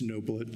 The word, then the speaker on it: Noblet: It's Noblet, long O.